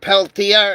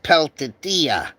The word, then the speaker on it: Peltier: Some people call it Leonard Peltier and some people call his name Leonard Peltia. I've heard his name pronounced two different ways.